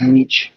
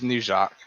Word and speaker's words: Nietzsche: i know i was just saying it's not niche it's nietzsche but yeah it's never i i never hear